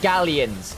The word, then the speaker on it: Galions: Get Gallions. Gallions. Gallions. Gallions. At least that's the English pronunciation.